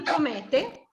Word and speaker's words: promette: Noi la pronunciamo la finale, quindi promette.